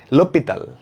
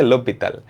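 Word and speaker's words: L'Hôpital: তো ফ্রান্সে এগুলো নামগুলো কেমন মানে একটু উদ্ভট উচ্চারণ হয়। লোপিতাল, এটার উচ্চারণটা হচ্ছে লোপিতাল।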